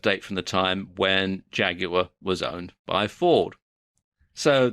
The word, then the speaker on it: Jaguar: left here is a Jaguar or Jaguar as they pronounce it in the US X type and the